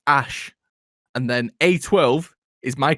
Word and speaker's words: Æ: the letter x and the a is pronounced ash and then a12 is